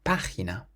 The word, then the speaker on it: página: Then we have the word for page, and it has an accent on the first A. We pronounce it página, página.